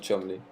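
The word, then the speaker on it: Cholmondeley: nicole samuel charmander yes samuel chol monday lee uh i think that's the way you pronounce it yes trundley isn't it chumbly uh it is chocolate yeah mr chumley funny names anyways uh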